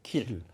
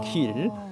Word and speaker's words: Kiel: 킬. 예, 도시 이름이 킬이라는 도시. KILL이요? 그럴 이 리가 발음은 있을까요?